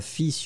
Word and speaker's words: fils: Remember to pronounce the final S, which is in fact an exception. I mean, normally we don't pronounce this S, especially we don't pronounce the L in that case. So basically, it's a pretty strange word. You pronounce it fils.